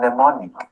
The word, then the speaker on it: mnemonic: M as in mnemonic.